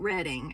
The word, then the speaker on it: Reading: Kramer and Kate Reading, but I think her name is Kate Redding, actually. I think is how it's pronounced. But I cannot stop myself from saying Kate Reading because it's Reading.